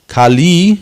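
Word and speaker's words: Kālī: short I, Kali, and Kali with a long I is one of the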